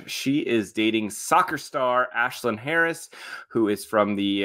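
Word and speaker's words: Ashlyn: comfort in each other Ashlin Harris ashin Harris Ashlin I'm sorry Ashlin Harris you're right um and so they've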